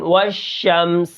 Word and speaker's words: والشمس: کس طرح ہوں گے، واو شین زبر والشین، میم زبر شم، والشم، سین زیر سی، والشمس، وقفا والشمس، ٹھیک ہے۔ اب یہاں پر